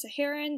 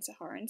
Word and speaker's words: Saharan: well aware of the fact that it's actually pronounced Saharan that's just my southern California accent coming through and saying siharan so I'm so sorry for that that's kind